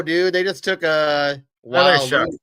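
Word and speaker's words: Tyler Shough: They just took a Tyler Shuck. It's pronounced Shuck. Shuck? Yeah. Shuck. Don't ask me how you get your case sound out of that.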